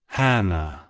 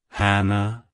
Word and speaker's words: Hanna: origin it's pronounced as Hannah Hannah Hannah to pronounce it correctly emphasize the first syllable h a and then